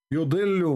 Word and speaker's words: يضل: Yudillu. What the heck? What she is saying? Don't listen to Google. Don't learn Arabic from Google. She is saying it wrong.